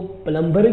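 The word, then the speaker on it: plumber: इसको पढ़ते हैं प्लंबर लेकिन यहां पर यह जो ल है ब का ल य यहां पर पढ़ जाएगा य साइलेंट है इसको प्लबर के बजाय पल प् पढ़ जाएगा प्लबर बी नहीं पढ़ा जाएगा प्लंबर बी साइलेंट है यहां पर उम्मीद है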